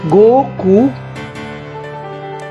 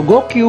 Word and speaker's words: Goku: 5 is pronounced as Go, and 9 is pronounced as Q. So kapag pinagsama mo, magiging Goku. Ayan. Go and Q. So Goku or Goku.